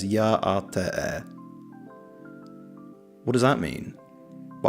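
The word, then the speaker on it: Yá'át'ééh: It's pronounced roughly as Ya'ate.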